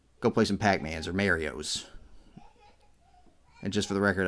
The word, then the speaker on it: Mario: play some pac-man's or Mario's and just for the record I do pronounce it Mario not marry oh I know some people do that and they're wrong yeah looks like we're